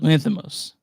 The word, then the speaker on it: Lanthimos: Say Yorgos Lanthimos.